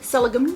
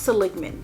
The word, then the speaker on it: Seligman: Seligman. It's probably pronounced Seligman.